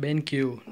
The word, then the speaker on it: BenQ: zero P either way it is pronounced BenQ not Bank or whatever it's been Q this is the power